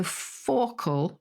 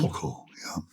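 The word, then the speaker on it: fauchle: pronunciation for this, but it's spelled F-A-U-C-H-L-E. So Fauchel or Fauchel. F-A-U-C-H-L-E. Fauchel.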